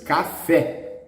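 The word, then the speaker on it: café: you know these words it's wrong the stress is in the last silhouettes cafe okay as it is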